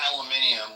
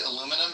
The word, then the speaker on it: aluminium: No, it's I mean, they add an extra syllable, but I think they might spell it with that extra syllable too, maybe. No, they don't. No, they don't. So they read aluminum and they pronounce it aluminium?